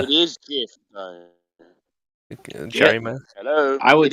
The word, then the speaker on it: GIF: Did you just say GIF? Do you pronounce God Jod? What? It's not GIF.